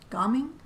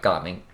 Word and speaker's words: Gaming: Because in English it says gaming. It does. Which, that's what this is. Yeah. He's named after what we do, gaming, but no, it's pronounced gaming.